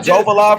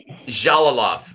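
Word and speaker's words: Jalolov: Wasn't it Jovalov or Javalov? Jalalov. It's pronounced Ja. Like the J. Jalalov.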